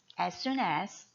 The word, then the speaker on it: as soon as: 함께 읽어 볼게요 after as soon as as soon로 발음하지 않고요 보통의 S 스펠링과 순의 S 스펠링가 두 번 겹치죠 이렇게 스펠링이 두 번 겹치면 한 번만 발음합니다 그래서 AS가 아니라 as as as as 이렇게 발음 할게요 그다음 있니다 before while